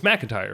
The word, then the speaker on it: McIntyre: one job here and we're already messing it's McIntyre right yeah it is I don't know it